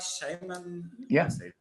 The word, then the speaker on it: Shaman: They pronounce it right? Shaman? Yeah, that's how I say it.